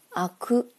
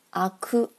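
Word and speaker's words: 灰汁: 作灰汁，叫做阿哭阿哭阿哭。阿是邪恶的恶的发音，哭就是重音。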